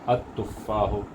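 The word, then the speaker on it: التفاح: तो एप्पल का भी जो आगाज़ी हर्फ है वो ता है और वो शमसी हर्फ है, इसलिए अल में का लाम प्रोनाउंस नहीं हो रहा है। तो इसको हमज़तुल वस्ल को डायरेक्टली जाके ता में मिला दिया जा रहा है। तो हो गया अत तुफ़ाहो, अल माओ, इसमें लाम प्रोनाउंस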